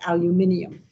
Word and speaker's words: aluminium: And I just love to say it the way the British say it, aluminium.